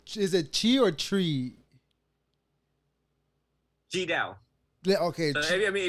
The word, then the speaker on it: Tri Dao: Yeah, okay, So I mean, if you were to Venerable pronounce it the Vietnamese way, right? It's Ji Dao, Ji Dao. T Dao. But in American way, you know, it's kind of like CHI, so the Ji Dao.